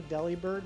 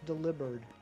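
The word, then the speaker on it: Delibird: I think everybody pronounces a deli bird, myself included, but I'm pretty sure it should be pronounced delivered. Like you deliver presents. Those presents were delivered by delivered.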